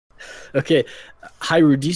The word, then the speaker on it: Hiru: Okay, Hiru, do you say your name Hiru or Hiru? Hiru. Hiru. Oh, my bad. Hiru, good to know.